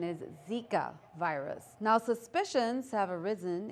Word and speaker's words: Zika: Thomas Stephanie Brown reporting for news too and the correct pronunciation is Zika virus now suspicions have arisen in French Polynesia